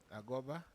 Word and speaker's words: Agoba: in this project yes my name is agoba yes that is the correct pronunciation I am the program